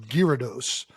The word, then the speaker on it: Gyarados: Uh, apparently it's pronounced Gyarados, which I've never seen a gy go gear. Gear, but you know, whatever.